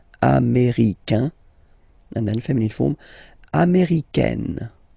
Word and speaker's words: américaine: So when you talk about the nationality, américain, masculine form, un, américain, and then feminine form, américaine. Américaine. Okay, it's really open this A-I.